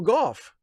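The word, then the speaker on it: Gough: You know who I can thank for that is uh Michael Goff, the the great English actor who starred in uh Hammer horror films and then went on to play Alfred in the uh the Tim Burton Joel Shrimacher Batman movies. That's how I learned to pronounce golf.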